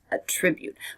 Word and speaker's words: attribute: was the noun and the verb is attribute attribute here the stress is on the second syllable attribute we normally use this